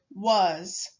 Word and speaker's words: was: as in the word was when reading was we pronounce the a as uh and the s as z when writing was remember